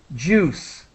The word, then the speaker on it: juice: And so the I is really silent. We do not pronounce the I. So juice.